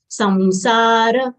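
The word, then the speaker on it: संसार: Samsara will say samsa and then dra full letter. So we'll say samsara.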